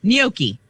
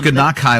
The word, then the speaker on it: gnocchi: Gnocchi. It's not how it's spelled.